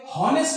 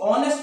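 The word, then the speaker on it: honest: अब इसे हॉनेस्ट नहीं पढ़ना, इसे ऑनेस्ट पढ़ा जाता है।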